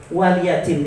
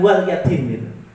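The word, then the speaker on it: وَلِيَ دِينِ: sebagaimana dalam surah al-kahfirun lakum dinukum waliyadin itu bacanya bukan walyadin banyak orang yang bacanya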